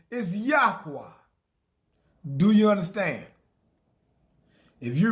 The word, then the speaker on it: Yahweh: Some people, some people pronounce it uh Yahwh and other, you know, but I call him Yahwa.